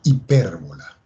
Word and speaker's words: hipérbola: Vamos a quitar esa parábola y vamos a escribir ahora de la hipérbola. Hipérbola, ¿ok? Acento en la E.